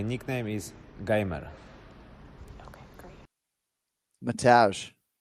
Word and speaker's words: Mateusz: Mateusz. It's Mateusz, yeah. Circle gets the square. And his opponent nickname is Bronx. How do you pronounce his name?